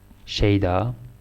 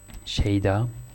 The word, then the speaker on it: شیدا: So now you learn how to pronounce this. Shayda. And Shayda.